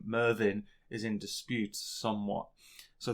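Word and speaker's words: Myrddin: bit of mrnomer so merlin comes from the welsh uh mervin which is spelt m y double d i n however the chap who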